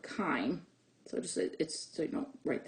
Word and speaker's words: chyme: to as chyme, which it's pronounced just like the herb thyme. So it's called chyme. So so you don't write that down. But you have chyme that enters into the duodenum.